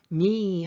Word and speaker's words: knee: knee 할 때 K 발음 되지 않아요.